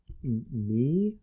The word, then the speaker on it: Mei: Well, there's a new app called May. MEI. MEI. That's how you spell May, at least.